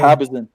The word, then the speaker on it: Habazin: How you pronounce the bitch last name? Habazin.